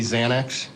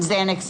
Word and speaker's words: Xanax: in the drug field, you know that people commonly think it's really spelled with a Z That's correct. because of the pronunciation. Yes. Okay. So a Z commonly refers to Xanax, Correct.